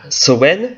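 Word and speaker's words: Samhain: les Celtes appelaient l'été tout simplement et de Sen donc Saim si vous voulez S a m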